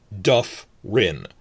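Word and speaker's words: dyffryn: Remember, double F is regular F sound, not a V sound. Duff, rin. Duff, because it's in the first syllable, but if it's like 3 or 4 syllables, it'll be every time, but except for the last one, which is rin.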